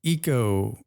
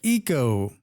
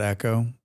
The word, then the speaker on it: Eco: do this I think it's a long e sound though like Eco oh like Eco not Echo Eco that makes more sense sense